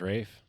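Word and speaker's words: Raiff: um, but so it essentially starts with, if you guys don't know who Cooper Rafe, how do you say his last name, Joe? Is it I think Rafe? it's Rafe. Rafe?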